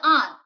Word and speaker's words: aren't: Come on, I wanted anyone to tell me the answer. Am plus not. Is plus not. Isn't. Are plus not. Please pronounce it as on.